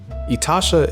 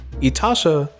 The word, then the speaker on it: itasha: made and how two people got into it itasha is spelled i t a s h a etasha is a japanese term for painful car quite